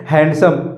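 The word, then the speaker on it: handsome: है हैंडसम बस भाई इसको बोलने में हैंडसम नहीं बोलते हैं बड़े दस में दी क्या हो जाएगा साइलेंट हो जाएगा और यहां पर इसको पढ़ेंगे क्या हम हैंडसम क्या पढ़ेंगे हैंडसम आप बहुत ही हैंडसम हो हैंडसम कभी नहीं बोलना है दी क्या हो जाएगा इसमें साइलेंट है और इसको पढ़ना आपको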